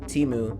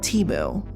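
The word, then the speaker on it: Temu: of that experience right that company is called teu and at least that's how I'm going to be pronouncing the name t e m u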